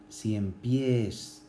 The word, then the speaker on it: ciempiés: El énfasis está en ciempiés en la última sílaba, por lo tanto es una aguda terminada en S y por tanto lleva tilde.